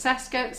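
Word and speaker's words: Cesca Agate: So we're going to go to, I don't know how you say it, Saska Agate. Like Francesca. Yeah. So it's Saska, C-E-S-C-A, Agate, A-G-A-T-E.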